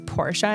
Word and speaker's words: Porsche: I said I'm like did you know that it's Porsche instead of Porsche and she goes you know what I think that's the guy at the dealership when he said Porsche I thought that he was an idiot but you're right I actually think the name is Portia and I'm like what